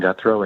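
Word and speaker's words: Guthreau: may begin hello uh my name is guthro i am the deputy director at the nevada association of counties my name is spelled my last name is guthro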